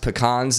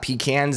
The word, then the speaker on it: pecan: so i know um they're pronounced pecans not pecans and oh my god